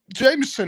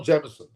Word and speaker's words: Jameson: Is it Jameson or Jamison? Well, we would say Jameson over here, but I mean, that's how we would pronounce it.